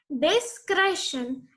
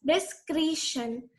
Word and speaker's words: discretion: Discretion. It is not pronounced as discretion. It is discretion.